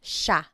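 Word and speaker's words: siya: point out the pronunciation it looks like it should be pronounced but it's usually pronounced Sha Sha Sila is theyo is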